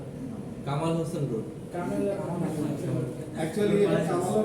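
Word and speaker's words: Kemal: কামাল Hossain road. Actually এটা কামালও না, কেমালও না, কেমাল আতাতুর্ক এগুলো সবাই মনে করে, মানুষ এটা ভুল করে বলেছে, না ভুল না, অ্যাকচুয়ালি ব্যক্তিটার নাম ছিল কেমাল।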